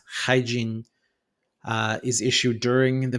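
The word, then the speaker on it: Haijin: probably correct me, but I believe it's pronounced hygiene.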